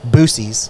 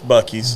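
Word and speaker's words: Buc-ee's: Or as Scoot likes to say, Boosie's. Fuck that dude. Yeah. It's Bucky's. Boosie's. He can't pronounce it. Can't pronounce it worth a shit.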